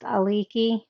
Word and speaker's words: Aliki: He said her name is pronounced Aliki.